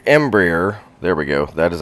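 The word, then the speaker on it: Embraer: our flight plan so we are in an Embry embryer there we go that is actually how it's pronounced so I did screw it up earlier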